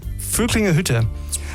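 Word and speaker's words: Völklinger Hütte: Germany was in the, and I have to pronounce it correctly because you're German, right? Yes. It's from Dubai, actually. enough. Weltkulturerbe Vöcklingerhütte.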